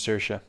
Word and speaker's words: Saoirse: I mean, is it Saoirse? Saoirse Ronan? Is that how you pronounce Saoirse? Yeah, her name's Saoirse.